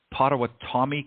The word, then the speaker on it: Potawatomi: at pronouncing things, but is it the Potawatomi Cup? Is that how you pronounce it?